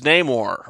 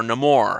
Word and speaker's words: Namor: But let's talk about Tenoch Huerta as Namor, or Namor, however you choose to pronounce it.